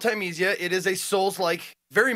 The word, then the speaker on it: Thymesia: It's Thymesia. I want to say it's like that because it's spelled like time with Sia on the end.